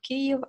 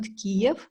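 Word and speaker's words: Kyiv: with the city of K as its capital uh in important note to um every Foreigner it is actually correct to say k not Kev uh also when we already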